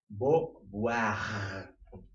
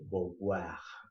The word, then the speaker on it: Beauvoir: Beauvoir. Bueno, así más o menos sería la pronunciación. Si le quieres decir Beauvoir, también está bien, porque pronunciar esas palabras francesas está medio dificilona.